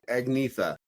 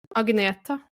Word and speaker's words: Agnetha: See, I would have said Agnetha, but you said, say it again. Agneta.